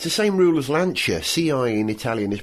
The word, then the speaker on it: Lancia: Yeah, well, it's the same rule as Lancia. CI in Italian is pronounced ch, so it's Ricciardo.